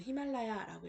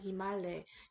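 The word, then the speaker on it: हिमालय: 자, 히말라야라고 우리말로는 히말라야라고 이렇게 외래어를 표기를 하고 있는데요. 실제 발음 히말레에 가깝습니다.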